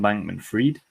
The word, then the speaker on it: Bankman-Fried: First of all, our friend Sam Bankman, how do you say it? Sam Bankman? I've always pronounced it as Sam Bankman-Fried. Fried, okay. Yeah.